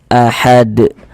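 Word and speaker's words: أَحَد: Nah, sehingga kita baca ahad. Kemudian mantul. Ahad.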